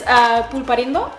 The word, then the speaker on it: Pulparindo: First, what you're going to need is this pulparindo.